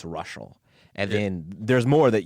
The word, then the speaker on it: Reuschal: to tune out like after the no it's russal and then there's more that you go to